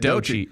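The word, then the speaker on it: Doechii: how to say this DOI I think that's how you say it that's is how you say it DOI DOI yeah and she's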